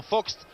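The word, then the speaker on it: Vogts: D'ailleurs, le nom, là, je dis de temps en temps Vox et de temps en temps Fox, parce que je prononce de temps en temps à la française, de temps en temps à l'allemande, alors, bien sûr.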